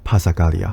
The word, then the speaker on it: passacaglia: This time let us talk about Passacaglia. Passacaglia is Italian and also known as passacaglio passacagli passacaglie. If you think passacaglia is difficult to pronounce, just pronounce ikea.